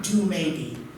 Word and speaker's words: Dumebi: this presentation, you can just call me Mr. or Do Maybe, if you can phonetically pronounce that.